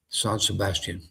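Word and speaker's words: San Sebastián: My hardest part of this whole process was learning how to pronounce San Sebastian. This is Son Sebastian.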